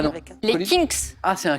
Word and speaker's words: Kinks: Kinks. Ah, c'est un K. C'est Kinks.